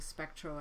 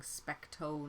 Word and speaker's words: Specto: Sorry, I just pronounced it incorrectly there. I should be saying Specto, not Spectro.